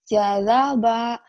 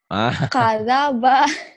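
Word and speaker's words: كَذَبَ: Jazaba. Salah. Kazaba. Kazaba. Kenapa jadi ja ya? Orang baru dibilangin kak. Dibacanya ja. Nah itulah lidah ya. Lidah tak bertulang. Orang di otaknya udah bilang kaf. Kenapa di lidahnya jadi ja? Kazaba.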